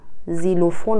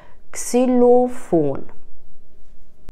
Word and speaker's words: Xylophon: زیلوفون و اینا غلطه. کس، اگر اول کلممون ایکس بیاد کس خونده میشه، xylophone.